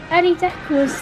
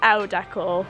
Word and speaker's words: Elle Decor: So, Ellie Decor's name of the rug, well, by the owner. Well, it's Elle Decor, but she always says Ellie, because obviously that's how my name's pronounced.